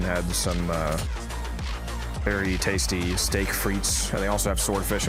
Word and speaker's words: frites: It's frites. Frites is spelled F-R-I-T-E-S.